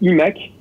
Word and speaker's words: iMac: Alors qu'on doit prononcer iMac en anglais. Donc on est censé dire iMac et iMac.